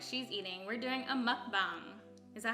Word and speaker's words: mukbang: teacha explain what she's eating we're doing a mukbang is that how you say it yes and